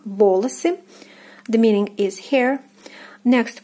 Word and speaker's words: волосы: Next we have волосы, волосы, волосы. The first O is stressed and the second unstressed and is pronounced as A, волосы.